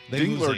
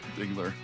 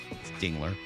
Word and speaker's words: Dingler: You want to make sure you say it right. Dingler. Yes, Dingler. Get that right. Not Durk. Not Durk. Not Dler.